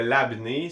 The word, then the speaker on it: labné: Je crois bien le prononcer, mais pour me défendre, je vais tenter le labnais, le labneux, le labneux, le labne. Je suis certain que c'est le labné, c'est ce qui me